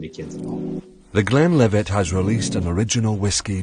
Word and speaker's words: Glenlivet: It's Glenlivet.